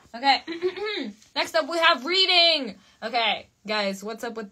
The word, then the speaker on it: Reading: Is it Reading? You're kidding me. No. No. Ooh, I'm going there, says Colby. Nice. It's pronounced Reading.